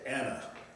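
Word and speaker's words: أنا: You don't say A. N A A, right? You just said Anna, right? Mm-hmm. See, this is the only difference. Most other word, Arabic words, you have to pronounce this Aleph on the end. But in this case, you don't pronounce that extra A. It's just Anna.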